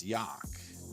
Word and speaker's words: Jauch: Go to the Google machine, Joe, Jauch, pronounce Yock, not the way another coach pronounced it, but that's okay.